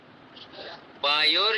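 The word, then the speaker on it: वायोर्: अग्ने ऋग्वेदम वायोर यजुर्वेदम, इस तरीके से आया है। वायोर, इस तरीके ओ की मात्रा लगी हुई है।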